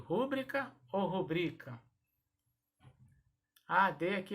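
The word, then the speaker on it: rubrica: palavra que deixa confusão como é que eu pronuncio pública ou rubrika da adec é sua rodrigo é assim que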